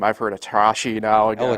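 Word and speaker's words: ElAttrache: Neil, I always mispronounce his name. I've heard Atrashi now again. Elatrosh.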